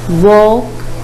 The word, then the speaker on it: walk: me again talk talk walk for in these words the letter L is silent let's read the following